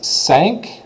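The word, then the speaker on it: cinq: hearing it okay cat this one is sank like the ship sank because it had a hole in it sank we already said this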